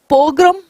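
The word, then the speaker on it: pogrom: नाउ पोग्रम, पोग्रम देखना, ये प्रोग्राम नहीं है, ठीक है।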